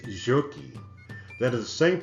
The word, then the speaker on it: Soque: Soque, Soquee, or Jokie is correctly pronounced. If you're Creek or if you're from Mexico, it's Jokie.